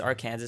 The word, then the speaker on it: Arkansas: what I'm talking about Arkansas Arkansas definitely pronounced Arkansas so we have the